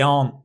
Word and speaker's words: aren't: The T will be pronounced, particularly if the next word begins with a vowel or a vowel sound.